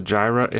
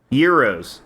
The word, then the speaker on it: gyro: Alfred is cutting off the gyro. How do you pronounce it? Heroes.